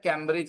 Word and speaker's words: केम्ब्रिज: ना ना केम भैया उसका नाम कैम्ब्रिज नहीं है, केम्ब्रिज है, केम्ब्रिज, केम्ब्रिज। लेकिन लोग अपने स्कूल का नाम नहीं जानते, क्या बोलते हैं? कैम्ब्रिज है हमारा।